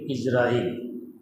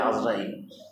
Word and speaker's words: ইজরাইল: রসিকার জিব্রাইল মিকাইল ইসরাফিল ইজরাইল আমরা বলি আজরাইল কারণ আইন তো শুরুতে আইনের মধ্যে জের দিয়ে উচ্চারণ করতে কষ্ট জবর দিয়ে উচ্চারণ করতে সহজ তাই আজরাইল বলে ফেলে উনি এসে কথাবার্তা নেই